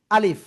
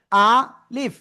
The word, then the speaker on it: আলিফ: আলিফ, নিচের ঠোঁটের পেট, উপরে 2 দাঁতের আগার সাথে লাগবে, এই যে লাগিয়ে হালকা বাতাস বের করে আমরা উচ্চারণ করব। আলিফ, আলিফ, কোনো টেনে পড়া যাবে না, ঠিক আছে?